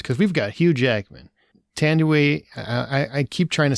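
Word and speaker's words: Thandiwe: She just reverted back to her original name, and I want to make sure I treat it with respect. Tandeway Newton is how it's pronounced now, and her character is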